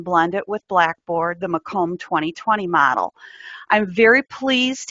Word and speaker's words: Macomb: told you this beforehand but um it is mome and that's just the way we pronounce the name of our County but I can see a lot of people look at it and say make them especially if they are from certain parts of